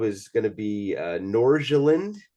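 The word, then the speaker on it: Nordsjælland: going to be uh norjaland or something how is that pronunciation yeah FC Northland you're pretty close okay for me that's like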